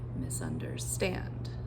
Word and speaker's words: misunderstand: So now all I'm doing is I'm adding one more unstressed syllable. So it's going to be misunderstand. Misunderstand.